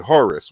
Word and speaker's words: Horus: So it's just like if you was to say Horus. Horus is just a Greek pronunciation of Horu or Huru.